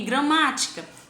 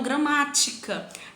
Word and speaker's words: gramática: Aí eu tenho gramática. Após a minha sílaba tônica, ma, eu tenho mais duas sílabas, o ti e o cá.